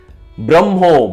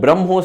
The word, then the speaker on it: Brahmo: people joined this movement braho braho stands for Brahman Brahma in the Bengali language the A is often pronounced as o and V is often